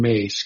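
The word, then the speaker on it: Myss: And the third one is uh Carolyn Mace. Caroline Mace's new I mean uh spiritual madness. Caroline Mace. Her last name is spelled MSS and her first name is like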